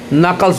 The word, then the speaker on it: knuckles: ये ध्यान दीजिएगा KNUCKLES, यहाँ पे के साइलेंट है, उसका के का उच्चारण नहीं होता है, नकल्स पढ़ेंगे। चले तो इसको इसका अर्थ